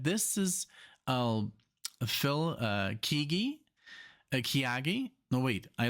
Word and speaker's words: Keaggy: this is Google Phil keagy okay so Phil kigi because sometimes I just don't know how to pronounce stuff so it's so cheeky and um